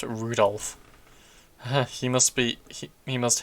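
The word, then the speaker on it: Rudolf: on it's just anyway this guy's name is pronounced rudolph he must be he must hate grandfather for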